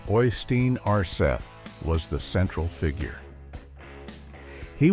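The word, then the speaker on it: Øystein Aarseth: Uranimus whose name is pronounced Ostein Arth was the central figure.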